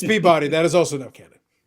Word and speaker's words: Peabody: in that City Peabody it's not Peabody Peabody Yola freaks keep sticky eating freaks it's Peabody that is also enough